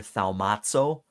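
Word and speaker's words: θαυμάζω: So we get a lot of this insight into this Greek word, which is pronounced here thaumazo.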